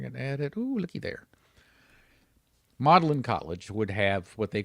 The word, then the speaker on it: Magdalen: It's a little weird cuz it's spelled m a g d a l e n. Magd- Seems like you'd pronounce it Magdalen, but you pronounce it Magdalen.